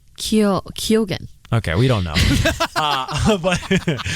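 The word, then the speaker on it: Keoghan: Kyogen. No, there's no N at the end of his name. Barry Keogh? How do you say this guy's name? He used to date Sabrina Carpenter. Kyogen.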